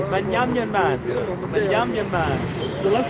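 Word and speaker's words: בנימין: Ben, Well, that's how you pronounce it in ancient Hebrew. what is it? Banyamin. Yeah. Sounds some Caribbean stuff. It sounds Caribbean, right? Banyamin man.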